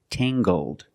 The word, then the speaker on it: tangled: her hair is Tangled using the nasal sound and the hard G Tang GG Tangled her hair is very Tangled